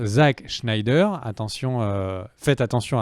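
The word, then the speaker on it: Zack Snyder: Ça se prononce Zack Schneider.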